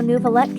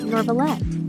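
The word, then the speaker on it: Neuvillette: Same with how Nouvelette kept being called Norvalette.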